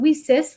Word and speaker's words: WiCyS: We spell it WiCyS, and we pronounce it WiCyS like we sisters because we're a global cyber sisterhood.